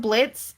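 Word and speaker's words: Blitzø: The silent is um there's a character called Blitz in um Hell of a Boss and his name is spelled Blitz, but the O is silent, so there's an O on the end.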